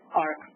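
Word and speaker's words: AHRQ: It is the 2017 National Healthcare Quality and Disparities Report by Agency for Healthcare Research and Quality, EHR, pronounced as ARC.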